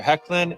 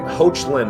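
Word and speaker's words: Hoechlin: give it up for superman and lois tyler hecklin and elizabeth you pronounce his last name i always thought it was like hoachland or some that makes so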